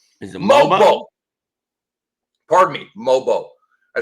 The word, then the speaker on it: Mogbo: Pardon me, Mobo. I said Mogbo. Got to take the G out. The G is silent. Mobo.